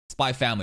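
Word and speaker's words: Spy × Family: Spy Family.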